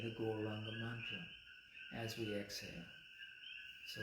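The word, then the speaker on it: Gauranga: We're going to pronounce the Guranga mantra in 4 syllables.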